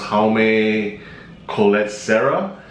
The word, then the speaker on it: Jaume Collet-Sera: His name, I believe, is pronounced Jaume Collet-Sera. Their previous films were Unknown, Run All Night, and Nonstop.